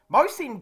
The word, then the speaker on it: Mohsin: I think the H is silent, but Mohsin Khan has been an absolute find of the season.